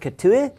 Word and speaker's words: Catuhe: it's my guest ketui hello pronounced it correctly absolutely correct excellent that's the french way i love it i